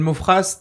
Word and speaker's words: Maufras: Mofras, t'as des trucs à plugger? Mofra, mais c'est vrai qu'il y a un S mais qui ne se prononce pas.